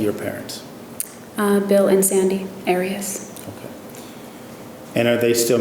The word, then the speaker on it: Arias: Your name has been pronounced in most of this trial Arias. Is there another way of pronouncing it? Have you always pronounced it Arias? I've heard it pronounced about 7 different ways. I say Arias, as does the rest of my family.